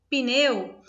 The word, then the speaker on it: pneu: Quando eu falo pneu, né, na oralidade, é comum se dizer pneu, nos parece que tem um I, né, como uma vogal, mas ela não está aqui.